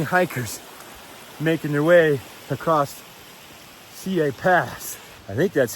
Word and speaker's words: Siyeh: making their way across CA Pass. I think that's how you pronounce it. CA Pass. It's how they pronounce it on the shuttle anyway. It's not Sea Pass.